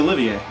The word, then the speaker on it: Olivier: Olivier. That's there you go. Yeah, like Laurence Olivier.